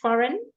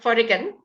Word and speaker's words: foreign: just repeat after me foreign it's not foran it's F and then a GN so very many of them